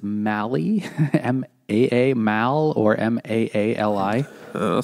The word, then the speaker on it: Maali: he like uh so Molly is is not Molly it's Mali m-a-a Mal or m-a-a-l-i uh someone did the